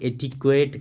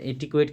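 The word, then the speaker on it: etiquette: है जो सोसाइटी में लोग करते हैं उसे एट क्वेट कहते एट क्वेट की स्पेलिंग ध्यान रखना ई टी आई क्यू यू E double T ई एट क्वेट नॉम क्या होता है नॉम होता है आपका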